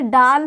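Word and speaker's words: ڈال: इसका हिंदी उच्चारण ड होता है, ड, इसे डाल पढ़ते हैं।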